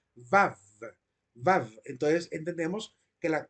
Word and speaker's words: Vav: que desciende del hebreo es la letra Vau o Vav, que es una letra que se pronuncia mordiendo los labios, Vav, Vav.